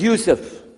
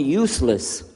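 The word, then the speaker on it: Yusuf: work on it inah my name is Yousef can you say Yousef you say you you're very good I wish you teach my wife she keeps mispronouncing it she calls me useless alhamdulillah now how many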